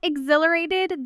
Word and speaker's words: exhilarated: Notice the stress. XHile A rated U. The middle syllable carries the weight and the H is soft. U almost disappearing in fast speech. Natives often say exhilarated with barely any breath on that H.